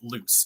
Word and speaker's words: Luc: So one character whose name is spelled L-U-C, you actually pronounce it loose, and no one gets it right the entire book, and it's a constant thing.